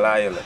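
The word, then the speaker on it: Lisle: You're saying Lyle. And spell it for them. Lyle, L-I-S-L-E.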